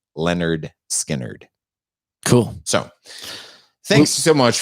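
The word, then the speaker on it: Lynyrd Skynyrd: 1973 leonard skynyrd's i believe their debut album pronounced leonard skynyrd cool so thanks so much for sticking around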